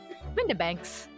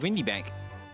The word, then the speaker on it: Windibanks: Windibanks. Windibanks. Windibanks. Wait, that's how you say it? Yeah, it's Windibanks. I thought it was Windy Bank. It would be pronounced like Windy, mostly.